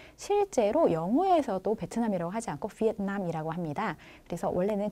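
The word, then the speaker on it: Việt Nam: 영어에서도 베트남이라고 하지 않고 비엔남이라고 합니다. 그래서 원래는 그 나라 사람들이 부르는 그 발음 그대로 불러주는 게 제일 좋겠죠. 네, 그래서 원래 원어라고 해야 되나? 베트남어는 비엔남이 맞습니다.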